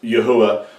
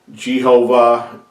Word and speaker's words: Yahweh: of the name of Yahweh that is the correct way of pronouncing his his name Yahweh and yehovah Jehovah yah why all those names are are Mis not only mispronunciations they're they're really corrupting the name of our creator and I hope that